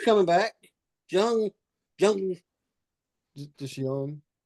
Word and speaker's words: Jung: Just young. It's good. Young. Yeah. Yeah. Yeah. No, it's looking like good. The Jung. Well, the J's sounds like a Y.